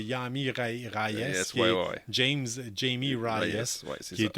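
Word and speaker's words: Jaime Reyes: re ok ouais y Yam parce que c'est la façon de le prononcer au début je un peu mélangé finalement c'est Yamy rayes James Jamie Ry qui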